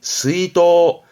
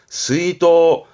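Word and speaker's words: 出納: 뭐 출납 장부 지출과 수입을 적는 출납을 말하는데 발음이 스이도 스이도 이거는 꼭 챙겨 두셔요 자나 출자 가지고도 시험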